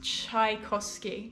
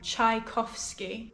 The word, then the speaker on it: Tchaikovsky: have any favorite ballet music i love anything tchaikovsky tchaikovsky i think it's that but it's russian so